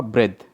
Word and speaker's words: breath: तो इसका जो प्रोनाउंस होगा, बहुत से बच्चे गलत करते हैं इसका प्रोनाउंस। इसका प्रोनाउंस होगा ब्रेथ। क्या होगा? ब्रेथ, ब्रेथ।